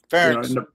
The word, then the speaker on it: Ferentz: I contacted Iowa University about Coach French, so it's still Ferentz.